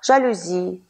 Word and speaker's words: жалюзи: и в английском языке а слова пришедшие с французского языка произносится с ударением на последний слог жалюзи фетиш диспансер и другие давайте рассмотрим